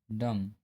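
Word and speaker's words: dumb: एम के बाद यदि बी आता है तो बी साइलेंट होता है। जैसे कॉम, बॉम, थम, डम।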